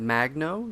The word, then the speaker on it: Magno: gracious gracious gentlemen we have is it Magno is that how you pronounce it yep all right Magno Highlander